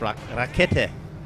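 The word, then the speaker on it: Rakete: Rockit rocket raet ra it's not n there's no n it's raet Raiden thank you thank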